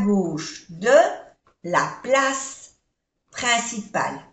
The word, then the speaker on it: place: Le musée est à gauche de la place principale. Place, no se pronuncia la E, la place principale.